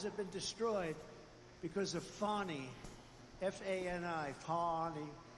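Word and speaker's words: Fani: But many many people their lives have been destroyed because of Fonnie. Fan Ni. Fi. You have to pronounce it Fonnie.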